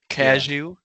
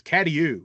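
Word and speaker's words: Cadieux: you know, casu c a d i e u x. What? No, you're right. It's katou, right?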